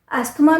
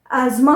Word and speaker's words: asthma: एस्थमा नहीं होता है, एज़मा होता है। उसका सही प्रोनाउंसिएशन है एज़मा।